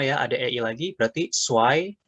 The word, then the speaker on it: zwei: Kemudian EI dibaca AI, berarti bacanya Eins. Di sini nomor 2 juga sama ya, ada EI lagi, berarti Zwei. Z kita baca sebagai C atau TS. Zwei, boleh Cuai, dua-duanya boleh.